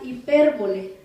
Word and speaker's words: hipérbole: Vamos a ir a otra figura retórica, y esta figura retórica es la hipérbole, con H. Hipérbole. Hipérbole. Con acento en la I, hipérbole, y con H.